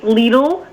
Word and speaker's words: Lidl: Talking about the news that we broke on Friday that the German supermarket company Lidl, which rhymes with Beetle, is seeking to open a location at the Tapan Plaza Shopping Center on Route 303.